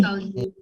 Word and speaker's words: salut: Again, you and then salut. Salute. Salut. Don't pronounce the T in the end.